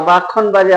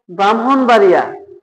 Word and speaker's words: ব্রাহ্মণবাড়িয়া: এটার উদাহরণ দেখেন ব্রাহ্মণ অনেকে এটাকে মনে করে যে ব্রাক্ষণ বলে থাকে আমরা যারা না জানি এটাকে ক্ষিয় মনে করে অনেকে এটাকে বলে যে ব্রাক্ষণ বা ব্রক্ষপুত্র বা ব্রাক্ষণ বাড়িয়া অনেকেই পড়ে থাকে যেটা ভুল তাহলে উচ্চারণ হবে ব্রাহ্মণ ব্রহ্মপুত্র ব্রাহ্মণবাড়িয়া আশা করি বিষয়টি বুঝতে